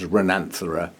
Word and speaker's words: Renanthera: my three rhinanthras or renin thereos however you want to say it that's how i started saying it but somebody um gave me a whatever the expression is that that tells you how to pronounce things said that most people actually say as rananthara and that does sound a bit more orchidy to me so i'm